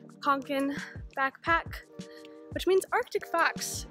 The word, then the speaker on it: Kånken: Today I'm going to be painting on my, I believe it's pronounced Fjällräven Kanken backpack, which means Arctic fox in Swedish as far as I know.